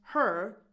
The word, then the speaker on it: her: If we're just saying it in a neutral tone, it becomes tell her.